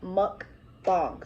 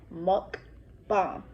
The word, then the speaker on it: mukbang: a mukbang is it's it's pronounced muck thong so m u k b-a-n-g monk bomb and basically a mukbang